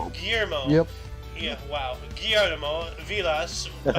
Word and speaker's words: Guillermo: your turn 1952 we have uh gorilla calmero guillermo guillermo yep yeah wow guillermo villas is an argentine